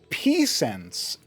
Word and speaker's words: Pisens: our black Zerg in the bottom right and Pense that's how you say his name is in